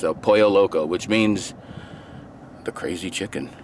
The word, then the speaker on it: Pollo Loco: quite a bit since then it's called El Pollo Loco that's how it's pronounced though poyo Loco which means the crazy chicken and these guys